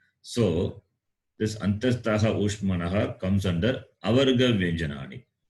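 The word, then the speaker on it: अन्तस्थाः: avargaha and antaswaha, antaswaha and ushmanaha plus is avargaha, or a different 4/4? Antastaha.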